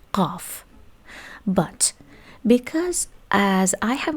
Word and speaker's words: ق: In Arabic, they pronounce this one Ghain, this one Qaf. Ghain, Qaf. G, Q. Actually, Q is something between K and G in Arabic. But in Persian, both of them are pronounced G.